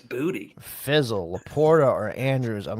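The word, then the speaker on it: Boutte: You just wanted to say Boute. That's not even how you say it. It's Booty.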